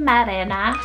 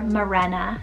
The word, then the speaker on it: Marena: means true cross next we have the name marena or morena spell m-a-r-e-n-a marena and this one's a spanish